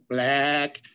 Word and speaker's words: Blaack: For lack of a better term, it's spelled BLAACK, black, has to do with sheep and Scotland, long story behind that one.